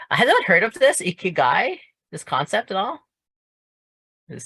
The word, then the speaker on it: Ikigai: How am I supposed to pronounce it? Ikigai.